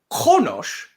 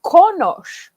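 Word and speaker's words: qoHnoS: Or Qonosh, which is a noun that means a journal. Oh, konosh. Konosh. There it is. And so what you can hear the difference is the qaghwl means you literally like cut the sound coming out of your mouth.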